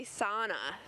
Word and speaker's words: sauna: Yeah, they say sauna instead of sauna. And if you look it up in the dictionary, it tells you sow as in cow. Sauna.